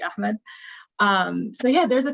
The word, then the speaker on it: Ahmed: people like riz um ahmed or ahmad i always i don't know how people in english pronounce some of the names i always say like in the arabic pronunciation which would be ahmed um so yeah there's